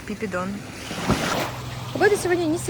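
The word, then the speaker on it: Phi Phi Don: is the island of Pipidon or Phiphidon the locals say they call it Pipidon the weather today is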